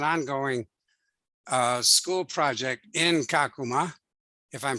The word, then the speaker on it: Kakuma: that has an ongoing uh school project in kakuma if i'm pronouncing that correctly yeah you are yeah um